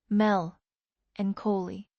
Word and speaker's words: melancholy: Say it slowly. Mel and Coley. Listen to what that word does in your mouth. 4 syllables.